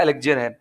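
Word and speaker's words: elixir: भी अमृत होता है एलेग्जिर कहते हैं इसको उच्चारण इसका एलेग्जिर चलिए मैं बताता हूं कि अमृत क्या है।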